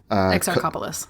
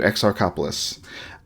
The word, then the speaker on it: Exarchopoulos: French film starring, I cannot pronounce her last name, Adele Exarchopoulos. Exarchopoulos. Yeah, thank you, Exarchopoulos.